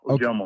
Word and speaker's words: Ojomo: Yeah, Ojomo.